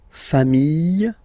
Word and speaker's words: familles: Famille, singular form. Famille, plural form. Same pronunciation, S, not pronounced, okay?